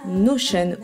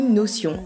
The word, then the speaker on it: Notion: deux pour notre organisation cet outil s'appelle notion ou notion à vous de de voir la prononciation que vous préférez il ne s'agit pas